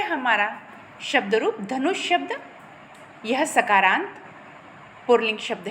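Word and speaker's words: धनूंषि: नु बड़ा है, नु के ऊपर आपका क्या है, अनुस्वार है, और शी आपका जो है वो ऋस्व है। आपको ध्यान रखना है उच्चारण कैसे होता है और कहाँ दीर्घ है, कहाँ ऋस्व है।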